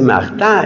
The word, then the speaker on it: Martin: señor Luis Luis mará se pronuncia maá y se escribe como Martin La señora Celia era